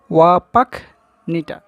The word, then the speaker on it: Wapakoneta: আবার এটির উচ্চারণটা দেখো, ওয়াপাকনিটা, ঠিক আছে, ওহিও, দ্য ইউএসএ, মানে ইউএসএর ওহিওর ওয়াপাকনিটায় জন্মগ্রহণ করেন 1930 সালে।